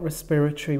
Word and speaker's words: respiratory: have a look then we've got respiratory we know it's four syllables the stress is on the second syllable and then we had